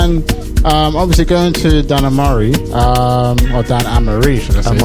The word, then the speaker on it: Amare: Everyone gets it wrong though. I don't. It's okay. What did you say, Dan? Amare. Amare. I said Amare, innit? Yeah. It's funny. It's the English. Only English people say it like that.